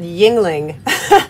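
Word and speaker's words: Yuengling: All right, it's the next day, and I Googled how to pronounce this. It said Yingling.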